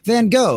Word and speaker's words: Van Gogh: It was the Doctor Who episode, The Artist, because England pronounces Van Gogh. Funny. Van Gogh, yeah. Like Van Gogh.